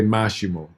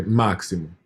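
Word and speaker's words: máximo: don't know but um because you wouldn't say mashimo they say maximum and example example and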